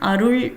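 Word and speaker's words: அருள்: So in pronunciation, Arul is, in Tamil it is second la. So while saying, we should not say Arulvai, instead Arulvai. So the tongue, you need to, twist your tongue on top of your jaw to say that, Arul. So it is a second la.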